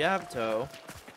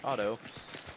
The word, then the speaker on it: Avto: fight can't wait yeah so the avto uh which is pronounced that way even though some people think that it's pronounced auto um is the only automatic